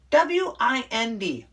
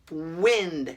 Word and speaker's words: wind: they're homographs come on w-i-n-d wind short i it's wind and it's a noun feel the wind then w-i-n-d the verb wind long i is you know